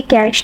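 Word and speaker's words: cache: Okay, इसके बाद हमारे पास जो टॉपिक है वो है उसको हम आई एम नॉट रॉन्ग, तो इसको हम प्रोनाउंस करेंगे कैश, ठीक है।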